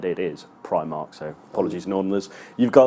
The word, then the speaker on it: Primark: story today on BBC as well how people pronounce Primark apparently up north it's pre mark the Primark boss has said it is Primark so apologies enormous you've got that wrong it's